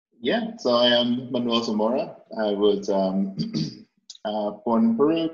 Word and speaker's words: Zamora: i'm excited to have our guest today manuel zamora i say your last name right you have to pronounce it right yeah no that was perfect